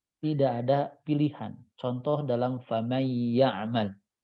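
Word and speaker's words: فمن يعمل: Contoh dalam faman ya'mal. Ini paket cara bacanya adalah faman, ditahan dan dengung.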